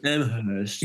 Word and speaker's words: Amherst: Well, there's the pretentious way. The college doesn't pronounce the H. I learned that. Amherst.